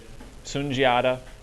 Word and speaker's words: Sundiata: And again, it's that issue that English has with trying to make sounds from other languages. Yep. Sundiata is closer to how it's supposed to be pronounced.